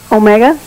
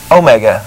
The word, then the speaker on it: Omega: pronounce your name correctly Omega Omega yeah like the watch okay it's really my